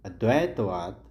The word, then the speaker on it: अद्वैतवाद: Next question है, अद्वैतवाद सही जो इसका उच्चारण है अद्वैतवाद और नवब्राह्मण धर्म की स्थापना किसने की?